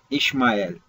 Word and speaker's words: إسماعيل: وفي اللغة العبرية يتم نطق الاسم إشمايل، ولكنه يكتب فيها اشم اشمع ال، واشمع بمعنى يسمع، وال هو الله، مما يجعل معنى اسماعيل كاملا يسمع الله.